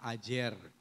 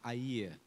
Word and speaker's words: Ajer: Gua lidah Ajer. Ajer. Tapi dalam pronunciation Minang harusnya gua lidah air.